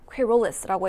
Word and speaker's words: querulous: 요 발음이 여기 중간에 한번 끊어주시면 돼요. querulous라고 해주시면 됩니다.